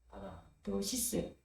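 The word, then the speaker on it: παράδοσις: 헬라는 보통 둘절에 강세가 있습니다. 파라 파라도 부드럽게 파라도 부드럽게 시스는 짧게 시스 한번 따라해 보겠습니다. 파라 파라 도시스 도시스 파라도시스 파라도시스 파라도시스 파라도시스네 전체적으로 파라도시스라고 읽으면 의미는 전달될 것 전해진 교훈 전통입니다.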